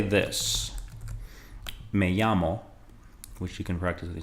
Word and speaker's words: me llamo: Notice how the double L is pronounced. It's pronounced like a Y sound, so